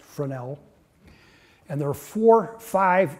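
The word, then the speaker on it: Fresnel: reef has a second-order Fornell lens FRES nal pronounced fran l and there are four five in Great Lakes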